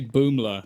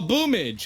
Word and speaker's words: BOOML4: I was like, so how do you say Boomler? And he was like, who is Boomler? And I went, BOOML4, and he went, oh, Boomage.